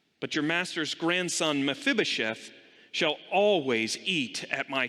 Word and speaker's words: Mephibosheth: with me mephibosheth mephibosheth it's not an easy word kind of a little bit of a silent e a little bit of a you know silent oh my fib oh chef but you could say but mephibosheth i think this is